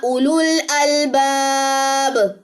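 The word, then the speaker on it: أُولُو الْأَلْبَابِ: खसीरा वमा यजकर इल्लाह उलुल अलबाब अब यहां पे ये क्या पढ़ा जाएगा? उलुल अलबाब। ठीक है? ये उलुल अलबाब क्यों पढ़ा जाएगा? ये वाओ यहां पे साइलेंट है।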